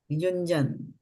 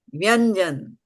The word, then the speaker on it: युञ्जन्: Like you say un has got also double N, right? Un. Yeah. So the thing is that we don't even pronounce Hindi properly. What you talk about Sanskrit? We say un. Right? Yuñjann. So the nasal tone is there.